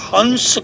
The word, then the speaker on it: हंस: एहसास होने लगेगा कि जब श्वास आती है तो उसमें सा की ध्वनि होती है और जब श्वास जाती है तो हा की ध्वनि होती है। दोनों मिलाकर के हंस का उच्चारण होता है।